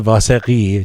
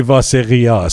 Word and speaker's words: Vaseghi: Let's say Vaseghi, so we can be Persian about it.